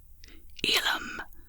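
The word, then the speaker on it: ylem: a cry like this Elum a noun the original substance from which According to some theories the elements developed this is pronounced e Lum with the stress on the first syllable youth informal a noun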